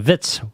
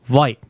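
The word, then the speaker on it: Witz: am bits and gross makes the mistake of pronouncing Vitz white and genes gene Simmons is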